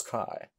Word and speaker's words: chi: In ancient pronunciation, chi sounds like the KH in backhand.